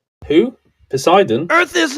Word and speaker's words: Poseidon: measured yes do you know who measured it posidon yes posidon yeah I know how to pronounce the name who Poseidon Earth is not flat and I'll tell you